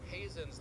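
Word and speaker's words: Heezen: the fact that Bruce Hazen's last name, which is spelled h e zen, is pronounced just like my last name, Hazen.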